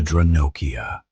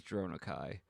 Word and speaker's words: Dronokai: The Dranokia. The Dronokai. I know the narrator mispronounced that word, and I didn't catch it till it was too late. But it is Dronokai.